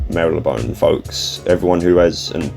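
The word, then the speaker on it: Marylebone: I listed the Wikipedia listed correct pronunciations of Maraban and said not to use Mary Leone. Yeah, that one I know for sure is wrong.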